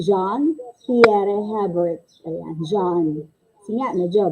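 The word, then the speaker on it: Jean-Pierre Hébert: We pronounce it as John Pierre Hebert.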